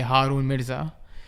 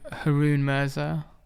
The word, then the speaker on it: Haroon Mirza: it because if I if it was my dad pronouncing my name he'd say Haron mza in England I'm harun murza in that's the anglicized version the French version would be akun there's MIT so you know like traveling when when when I travel for work I get all kinds of pronunciations and I just go with the the local the local version so harun is the local version in the UK all right well let's